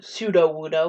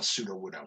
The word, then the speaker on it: Sudowoodo: I feel like it's actually pronounced the way you pronounce it, Sudowoodo. Also, no, you're right, because in the anime, Brock has a Sudowoodo on his team, and it pronounces he says Sudowoodo.